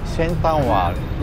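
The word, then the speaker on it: Central World: ねハムにあるセントラルワールド地元っぽい発音で言うとセンタンワーに行ってみ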